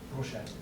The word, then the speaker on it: Rorschach: How do you pronounce that? The test that looks like a butterfly? Rorschach.